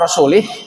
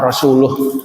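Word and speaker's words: وَرَسُولُهُ: Kata Umar, idza kana Allahu bari'un minallahi minal musyrikin wa rasulih fa ana bariun min hadal qari.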